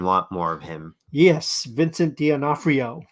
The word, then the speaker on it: Vincent D'Onofrio: Yes, Vincent D'Onofrio. Vincent D'Onofrio.